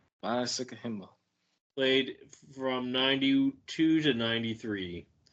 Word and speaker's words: Sikahema: Sikahema. Sikahema.